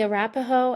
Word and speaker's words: Arapaho: And as you mind pronouncing them for me so I get the pronunciation correct? So, it's the Arapaho and the Shoshone Native peoples.